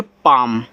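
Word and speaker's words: palm: पी ए एल एम देखो जब ए के बाद एल और एल के बाद आपका एम हो तो यहां जो आपका एल है वो साइलेंट होता है। यानी कि ए के बाद अगर एल दिया है और एल के बाद एम तो यहां पे एल आपका साइलेंट होगा। यानी कि इसको इस तरीके से पढ़ोगे पाम ऐसे पी से पा ए से आ का मात्रा एम से आप का पाम और पाम का अर्थ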